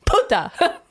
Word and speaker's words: puta: Plus, you didn't put the accento on the right. It's puta. It's a puta.